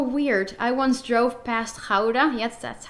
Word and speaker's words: Gouda: I once drove past Gouda, yes, that's how you pronounce it, and all of a sudden I saw the water in the canal was higher than the road.